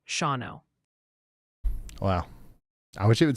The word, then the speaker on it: Shawano: Quick tip from your viewers, Shawano is pronounced Shawano.